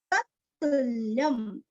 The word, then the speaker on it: तत्तुल्यं: मनोरमे सहस्त्र सहस्त्र नाम तत्तुल्यम तो दो त है यहाँ पे एक आधा है और दूसरा तू रस्व है तत्तु तत्तु ल्य अनुस्वर का उच्चारण आधा म तत्तुल्यम तत्तुल्यम राम नाम